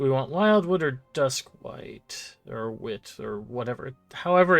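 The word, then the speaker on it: Wight: want wildwood or dusk white or wit or whatever? However it's pronounced. Wigot. No, I'm pretty sure it's white. W I g ht like light.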